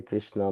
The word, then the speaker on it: Krishna: The letter R in Krishna also a voel is uttered in the same way more clearly. The tongue produces the sound R but it is pronounced like re.